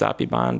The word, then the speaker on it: Apibal: It's pronounced Apiban, but they spell it with an L. So her last name is API, Api, BAL, Apibal.